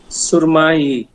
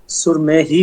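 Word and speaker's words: سرمه‌ای: লিবন, লিবন, লিবন, rosary, সুরমাই, সুরমাই, সুরমাই, সুরমাই, সুরমেহি বলতে হবে না সুরমেহি, সুরমেহি, সুরমেহ না হেটা উচ্চারণ হবে না সুরমেই আচ্ছা সুরমেহি, সুরমেহি।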